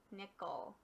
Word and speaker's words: nickel: Try for the real word, nickel. And my friends, with the E here, that's a schwa because it doesn't quite sound like an E or an eh.